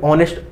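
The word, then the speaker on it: honest: spelling क्या होती है इंग्लिश में ऑनेस्ट होती है ठीक है ऑनेस्ट होती है तो यहां पे ऑनेस्ट ऑ भले ही ये नेस्ट लिखा है लेकिन पढ़ेंगे क्या ऑनेस्ट पढ़ेंगे ना इसे और ये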